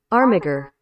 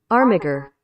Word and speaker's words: Armiger: Armiger. Armiger. Armiger.